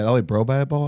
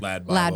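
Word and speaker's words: LADbible: Is it LA Bro Bible? I always say it wrong. Or Lad Bible.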